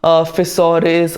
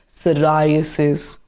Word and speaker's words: psoriasis: The pronunciation is a bit tricky but it is not fisaurus or persurasis. The correct pronunciation is psoriasis.